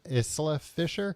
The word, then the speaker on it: Isla Fischer: Isla Fischer, Randall Park, Josh Gad, Will Forte, Harvey Guen, and Sophia Vera for um they should make movies like this illegal.